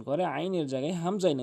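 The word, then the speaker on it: همزة: আইনের জায়গায় হামজাইন উচ্চারণ করে। এটা হামজা হলকের শুরু থেকে। হামজা হামজা হামজা।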